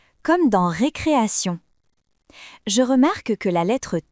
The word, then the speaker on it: récréation: Comme dans récréation.